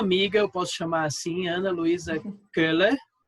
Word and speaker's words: Ana Luísa Köhler: A minha amiga, eu posso chamar assim, Ana Luísa Köhler. É assim que fala? Seu Isso, sobrenome? perfeita a pronúncia.